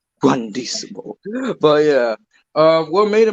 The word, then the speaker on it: Juandissimo: Poof has purple irises, so that's why there's a theory about Juan Hisimo. Juan. Shut up. Yeah. Shut up. That's a mispronunciation on my part. Juandissimo.